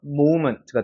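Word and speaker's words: moment: 위중 몸이 적용이 되니까 얘는 오 발음이 나는 거예요 그래서 모먼트가 되는 겁니다 모먼트 모멘트가 아니라 모먼 알겠죠 자 마지막 4번 문장입니다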